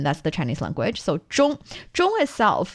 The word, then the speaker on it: 中: So 中 itself, the initial for the 中 is 知.